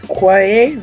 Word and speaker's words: Quaye: It's actually written by Caleb Quaye. How do you pronounce his last name?